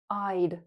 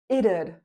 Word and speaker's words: it'd: There are 2 ways you can pronounce this. It'd. There can be 2 syllables. It'd. But you know what's really simple, common, and natural? Simply say id. Yes, id. That's perfectly fine.